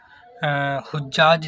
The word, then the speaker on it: حجاج: دل پر اثر کیا- اسے یہاں اور وہاں حجاج کے طور پر پڑھا جاتا تھا، لیکن حجاج اس کا صحیح تلفظ ہے۔ حجاج، حجاج کا مطلب